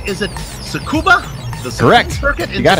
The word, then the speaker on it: Tsukuba: Joe am I getting this right is it tsukuba the sex forget you got it all right don't pronounce the deed you know this being the